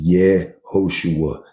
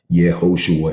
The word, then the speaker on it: Yehoshua: This is how you say his name. Screenshot it if you got to. Please, for your own sake, stop blaspheming his name. His name is Yehoshua.